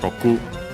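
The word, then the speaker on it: 六: The number most likely is pronounced with the Chinese pronunciation, the most common one when it's on its own, so yeah, Roku.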